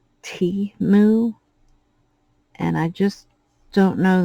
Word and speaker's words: Temu: trouble pronouncing things so I call it TAMU and it was pointed out that it's T moo and I just don't